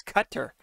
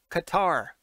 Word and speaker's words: Qatar: it's uae no i'm it's cutter qatar cutter what however you want to say it i've i've heard it pronounced a couple different ways but he teared tearing